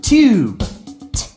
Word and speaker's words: tube: Ube tube, ube tube.